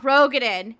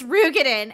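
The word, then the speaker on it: Roegadyn: finally pronounce that race it's not Rogen it's rugen and it pisses me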